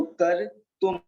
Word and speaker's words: कर्तुं: इसको रेप है ना, तो का के बाद में रेप को लेंगे और उसके बाद में तू, और तू के ऊपर एक बिंदी बिंदी लगी है तो उसको बोलेंगे, इसको माँ का उच्चारण करेंगे। तो कर तुम, कर तुम, कर तुम।